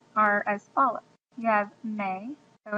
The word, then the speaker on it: me: as follows you have May so in Spanish it's pronounced may not me so may you would